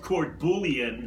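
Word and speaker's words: court-bouillon: Which is spelled courbouillon. Yes. Fred, maybe that's how they pronounce it in other areas of the country, but not here. Right. We pronounce it couillon.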